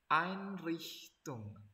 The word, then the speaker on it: Einrichtung: Tulisannya kan ein. Nah, tapi coba kok bacanya ein. Nah, betul. Jadi kalau misalnya ada dikombinasikan huruf ei dalam satu kata, kita bacanya ai.